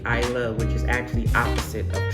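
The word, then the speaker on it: Islay: to Ira so it's it's spelled i s l a y but it is actually I love which is actually opposite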